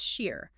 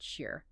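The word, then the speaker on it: شیر: In Iranian Persian, because those historical vowel sounds collapse into each other, the word for lion is pronounced shir, and the word for milk is also pronounced shir.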